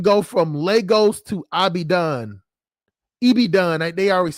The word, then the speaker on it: Ibadan: Ibadan. They always say I say it wrong. Ibadan.